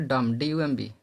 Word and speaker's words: dumb: जब किसी थ्योरी पे चलते हैं आप, जब किसी शब्द में बी के बाद एम हो तो बी साइलेंट हो जाता है। जैसे बी बाद एम आता है तो बी साइलेंट हो जाता है। जैसे डम DUMB, कलम CLIMB, और थम बने अंगूठा THUMB, और कम बने कंधा CUMB।